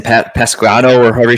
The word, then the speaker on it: Pasquantino: How do you pronounce his name? Pasquano, or however you say it. Pasquantino.